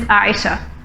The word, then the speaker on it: Ayesha: My name, Aisha, is derived from the Arabic word Aish. So technically the pronunciation is Aisha.